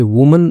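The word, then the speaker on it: woman: और यदि यहां पर इ होता तो उसका उच्चारण जो है वो वुमेन हो जाता। यानी कि बहुत सारी महिलाएं। ठीक है? ये ध्यान रखिएगा। वुमेन बहुत सारी वूमन सिंगल।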